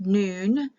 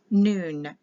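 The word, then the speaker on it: nun: and this is pronounced noon it's spelled n-u-n but it's n for the letter n and it's pronounced noon all verses start with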